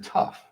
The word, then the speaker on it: tough: So the first one I mean o u g is off as in tough.